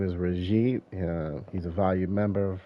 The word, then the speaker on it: Rahjeet: Is that how you say it? Rajit. Rahjeet, you got it.